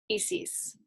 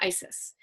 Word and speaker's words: Isis: was familiar with, and many people pronounce her name Isis. So I just want to explain why I call her Isis. So her actual Egyptian pronunciation of her name is Iset or Aset. And then the translation into Greek and Roman of understanding what the meaning of her word was to say Isis.